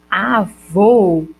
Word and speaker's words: avô: unidade sonora ou seja como eu digo só avô eu tenho um de que tu o tube e do ou quando eu digo avó eu tenho só do ar do v e do ó a diferença que uma é mais fechada que a outra ó já letra é a